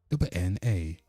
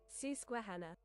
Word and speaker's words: Susquehanna: Let's go to our goddamn Google, because I want to know how you pronounce this shit right here. So Susquehanna. Susquehanna.